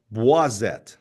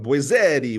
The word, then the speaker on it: Boisette: So, it's actually French-wise it'd be pronounced boisette, right? Yes. Correct. Yeah. I love that. I was giving you a very Italian. I was going boetti when I was first